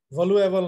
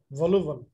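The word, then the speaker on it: voluble: জিনিস হলো এই যে এই ওয়ার্ডটা ভলুবল, ভলিউবল, ভলুয়েবল না, এ বললে ঝামেলা আছে, ভলুবল। হ্যাঁ ভাই এ সাইলেন্ট ছিল আমার, ভলুয়েবল আর ভলুবল, ভলুবল মানে হচ্ছে বেশি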